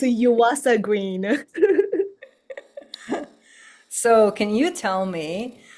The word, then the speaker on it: Yuasa-Green: I believe I said your last name wrong. How does it go? It's a Yuasa Green.